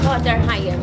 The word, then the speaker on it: Potter Heigham: Potter Heigham is the right pronunciation. So, we've walked into Wroxham a couple of times for shops. But, uh today we're going to a little bit further. Potter Heigham is only a 6-minute journey, so we'll let